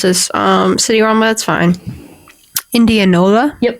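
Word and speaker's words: Indianola: I'm going to pronounce this um city. That's fine. Indianova.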